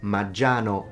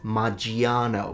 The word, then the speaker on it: Maggiano: It's Maggiano, not Maggiano. We don't pronounce the I.